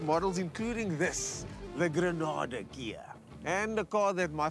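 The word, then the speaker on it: Ghia: It's actually pronounced Gia, not Gaia, which is the Mother Earth reference.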